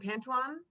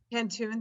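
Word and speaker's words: pantoum: She says, I had never heard of I'm going to say it wrong, Pantuan? Oh, Pantoon? Pantoon, thank you.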